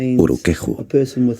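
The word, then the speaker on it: urukehu: Se pronuncia Uruqueju, para referirnos a una persona pelirroja y de piel clara.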